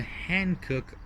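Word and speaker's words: Hankook: rating of 200 examples include the hand cook h a it's spelled h-a-n-k-o-o-k Adventist RS3 Falcon Zen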